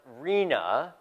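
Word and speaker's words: RHNA: I'm going to talk about next and it's pronounced Rina um I think this is perhaps worse than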